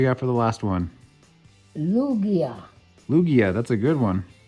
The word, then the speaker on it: Lugia: we also got a lugia the g is pronounced like an h i wonder if they